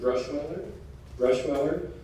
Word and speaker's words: Bruschweiler: S is it's pronounced Bruschweiler, Sr.